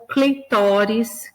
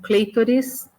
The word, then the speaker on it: clitóris: Ou clitóris, que muita gente pronuncia como clítoris.